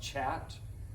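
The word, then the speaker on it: khat: this is chat so it's pronounced chat and uh this has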